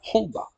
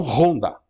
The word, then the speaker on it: Honda: Porque, de fato, o H em japonês ele não é assim tão forte, né? Será Honda, e não Honda. Né? Imagino que o japonês talvez que não entender, não sei, mas se aquele H é pronunciado com muita força, talvez que o japonês não entenda que se está referindo ao nome da moto.